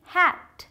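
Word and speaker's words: hate: तीसरा हैट, एच ए टी हैट, इसके साथ ई लगा दिया लास्ट में तो हो गया हेट. हेट मीन्स नफरत करना, यहाँ भी ये साइलेंट है. तो बस इसकी वजह से इसको प्रोनाउंस तो नहीं कर रहे, इसका साउंड भी नहीं निकाल रहे, बट इसकी ध्वनि बदल गई है, हम इसे खींच के बोल रहे हैं ए करके हेट.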